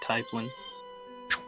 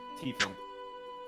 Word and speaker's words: tiefling: I've always pronounced it Typhling. Tiefling. Yeah, but I've always pronounced it Typhling.